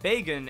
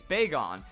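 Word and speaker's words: Bagon: another Pokemon like this big on it's not beggin it's big on so the dragon that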